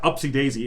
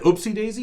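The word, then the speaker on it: upsy-daisy: by the way uh upsy daisy is the correct way to say we i would have said oopsie daisy but it's really sweet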